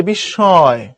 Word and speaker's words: বিস্ময়: বিস্ময় শব্দটির উচ্চারণ হচ্ছে বিস্ময়। বিস্ময়, এখানে একটা নাকের প্রভাব পড়বে, যে এটা বিস্ময়।